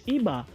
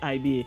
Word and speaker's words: Iba: I know most people say IBA, but it's a Yoruba word that means to give praise and honor, IBA. So Yoruba being a tonal language is pronounced Iba.